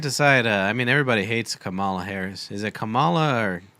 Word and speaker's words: Kamala: I mean, everybody hates Kamala Harris.